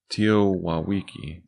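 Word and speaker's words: TEOTWAWKI: How do you pronounce that? Teowawiki.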